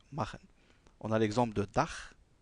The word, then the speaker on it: machen: Alors ce son vient toujours après les voyelles A, U et O. Toujours. C'est-à-dire quand on a des mots où il y a le CH précédé par A, U ou O, le CH ne se prononce pas ch comme dans ich, mais ch comme doch et machen.